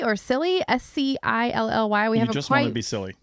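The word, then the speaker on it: Scilly: on is called The Isle the Isle of skilly or silly s-c-i-l-l-y we haven't be silly they figure out how to pronounce that you just want it to be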